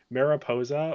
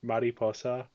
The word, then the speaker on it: Mariposa: First up is Mariposa or Mariposa, depending on if you want to pronounce it correctly or incorrectly.